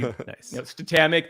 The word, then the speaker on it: Statamic: okay do that too it is pronounced statamic because it's the word static and dynamic so if you take